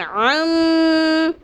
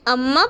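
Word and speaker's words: عَمَّ: صبر ما، عم عم۔ ہم اگر اسے اماں پڑھیں گے، اماں، اکثر لوگ اماں پڑھتے ہیں جو صحیح تلفظ اور ادائیگی کو نہیں جانتے، تو آج میں آپ کو بتاؤں کہ عین اور ہمزہ میں ہمیں واضح فرق کر پڑھنا ہے۔ عم عم، یا زب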